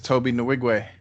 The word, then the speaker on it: Tobe Nwigwe: And we're here to talk about this Tobe Nwigwe. Good job on the pronunciation.